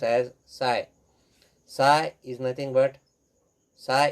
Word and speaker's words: psi: is, here it is represented by the symbol pronounced as psi.